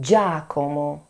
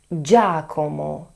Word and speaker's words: Giacomo: Fifth and last name is that of Giacomo. Giacomo. GIA if pronounced , Giacomo as for example Giacomo Leopardi.